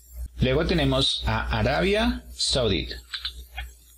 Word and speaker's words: Saudi: Luego tenemos a Arabia Saudita. Tenemos aquí Saudi, primera sílaba. Saudi Arabia, segunda sílaba. Saudi.